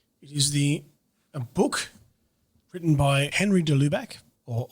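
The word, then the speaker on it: Henri de Lubac: resource to share is the book written by Henry de lubach or Henry de Lubeck insists on the correct pronunciation of his name the drama of atheist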